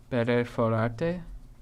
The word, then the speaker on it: perforar: Perforarte? Better for. How do you say Perforar. oneself? I don't know self. Yo. Perforar. You gotta roll your R's.